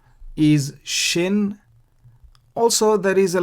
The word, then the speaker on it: shin: this letter shin it is not sin but shin remember shiboleth versus siboleth you pronounce shibolet if the dot is on the